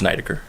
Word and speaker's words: Neidecker: It's Neidecker.